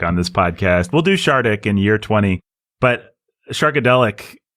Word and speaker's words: Shardik: it's not like this it's called chartic i'm gonna pronounce it shardic thank you nathan not